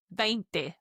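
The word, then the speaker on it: veinte: Now the big number 20 the 2 is pronounced vent.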